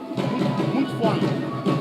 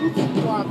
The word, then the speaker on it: Mutfwang: Pronounce his name. Mutfwang. Mutfwang.